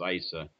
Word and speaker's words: Issa: Or Issa, I guess his name is pronounced Issa.